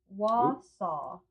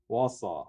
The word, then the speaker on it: Wausau: She said, "Pronounced Wausau." Wausau, okay. Wausau, Wisconsin. Wausau.